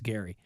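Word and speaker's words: Gerry: guy named his name name spelled like Jerry but it's Gary Gary Turner and Teresa nist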